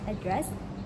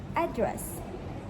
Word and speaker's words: address: British pronoun as address and American pronoun as address. American often stresses the first syllable for the noun.